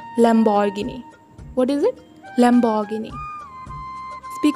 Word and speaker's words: Lamborghini: It's not Lamborghini. It's Lamborghini.